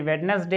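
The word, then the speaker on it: Wednesday: उसके बाद यहां पर जैसे वेडनेसडे आया है तो यहां पर साइलेंट है और यहां पर देखेंगे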